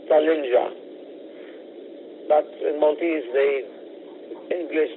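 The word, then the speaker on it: Tallinja: November Juliet Alpha in English it is probably pronounce salinga but in Maltese the English J has a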